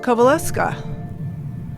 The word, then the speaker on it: Kowalewska: So Kowalewska, tell me how to say this right. Kowalewska. Is that how you say it? Kowalewska. Kowalewska. Yes, Kowalewska. Thank you.